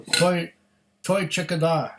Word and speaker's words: Toiteach A Dha: I hope I pronounced that correctly. I heard Roy Aquavite pronounce it that way. So I pronounce it the same way because he's more of an authority on this than I am.